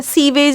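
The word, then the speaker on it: sewage: हाँ जी, तो आ जाए किस पे, microbes in सीवेज treatment, स्वेज, ठीक है, सीवेज नहीं बोलते हैं, स्वेज बोलते हैं, ठीक है।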